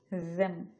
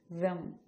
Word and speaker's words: them: কিন্তু আমি যখন এই দ উচ্চারণ করলাম তখন কিন্তু জিব্বার যে ডগা আছে, এটা যদি জিব্বা হয় এই ডগায় উপরে পাটি দাঁত রেখে আপনাকে উচ্চারণ করতে হবে, যেমন them.